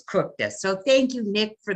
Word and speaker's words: Kukta: And I made sure that I knew how to pronounce his name because it's spelled Kukta, but it's Kukta.